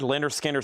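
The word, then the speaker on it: Lynyrd Skynyrd: Pronounce Leonard Skard. Leonard Skinner Second helping.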